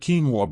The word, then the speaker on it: quinoa: If you've never tried quinoa before, you might be surprised at what this little grain can do for your health.